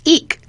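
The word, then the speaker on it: EEIC: expense slash investment code referred to as an e e IC and pronounced eek this code basically explains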